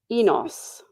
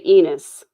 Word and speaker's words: Enos: Uh, because the the Brits say Enos and I say Enus.